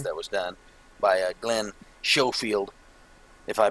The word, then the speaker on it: Schofield: Schofield. Yeah, that's what it is. There you go. Yep. Schofield. Schofield. I think that is Yeah. Schofield.